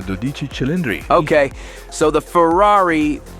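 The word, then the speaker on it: Dodici Cilindri: Ferrari 12 cylinders uh or you could call it by its name when pronounced in Italian the doich chind okay so the Ferrari dodich chilindrinas anywh who it's Ferrari's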